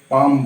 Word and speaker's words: palm: हथेली को हम लोग पाम बोलते हैं, PALM। पाम इसलिए बोला जाता है क्योंकि L यहाँ साइलेंट है, पाम।